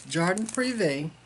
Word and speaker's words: Jardin Privé: I had spoke with Sheila at StitchCon, and I love the way she pronounces this. But I'm gonna try it. It's Jardin Privé.